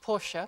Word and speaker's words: Porsche: just arminer left from the think tank to ask you know this armor now well first of all it should be pronounced Porsche because he's German so I'm going to